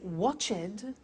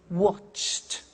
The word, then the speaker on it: watched: Now, when we add the ed, what happens is the pronunciation becomes T. We don't say watched, we eliminate the E and we say watched. Okay? Interesting, hey? So, look at that. Watched, danced, eliminate the E, pronounce the T.